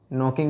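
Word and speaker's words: knocking: नॉकिंग है, ये के साइलेंट है, नॉकिंग।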